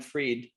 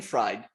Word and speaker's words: Fried: first name b-r-a-i-n and if you say my last name the way it's the way it's spelled then i'm brain fried nobody wants that i know it's appropriate being an inventor but it's b-r-i-a-n is my first name brian reid it's brian freed well i'm sure hopefully